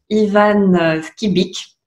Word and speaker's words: Ivan Skybyk: Et aujourd'hui, j'ai le très très grand plaisir d'interviewer Ivan Skibic. J'ai bien prononcé. Ah oui, c'est parfait.